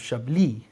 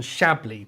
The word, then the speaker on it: Chablis: I didn't realise this, but the emphasis on the last part of Chablis, not on Chablis, but I mean, pronounce how you like.